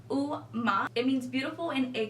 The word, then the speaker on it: UOMA: website about my beauty it does say uma Beauty is buy it is electric pronounce oh ma it means beautiful in